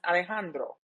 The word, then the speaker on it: Alejandro: His name is pronounced Alejandro.